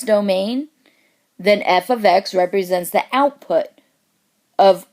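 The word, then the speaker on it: f(x): function using function notation f ofx that's how it's said equals MX plus b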